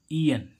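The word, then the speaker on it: aeon: जैसे हम देखें ए ई ओ एन, इसको क्या पढ़ेंगे ई एन। तो देखो ए ई का उच्चारण क्या हो रहा है, बड़ी ई।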